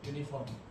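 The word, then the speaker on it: uniform: इसको हम पढ़ते हैं यूनिफॉर्म, जो भी है।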